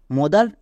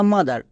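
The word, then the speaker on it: mother: ওয়ার্ডটি হচ্ছে এম ও টি এইচ ই আর মদার না মাদার এর সঠিক উচ্চারণ কোনটি আমরা জানি ও এর জন্য ওকার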